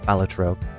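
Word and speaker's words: Balatro: I can't believe Ben Star dressed as a jester was the one who told me it it's pronounced alatro. That's the only way I know how to say it.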